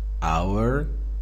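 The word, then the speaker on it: our: کلمه اور که برای صفت ملکی هست تلفظ آر هم داره دو تلفظ داره اور و آ یه مقداری راحت‌تر میشه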